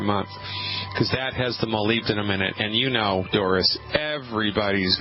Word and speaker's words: molybdenum: Carpal tunnel, we believe, is caused in part by a deficiency in a strange mineral called molybdenum. And let me spell that for you.